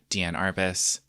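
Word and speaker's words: Diane Arbus: but there are famous female street photographers like Deanne Arbus, yes, that's how you pronounce her name, Lisette Modell, but not as many have been recognized in the past compared to their male counterparts.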